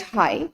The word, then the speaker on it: high: Next, high, again GH.